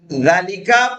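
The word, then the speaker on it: ذٰلِكَ: ذالکہ pronounced ذالکہ but it is written without الف.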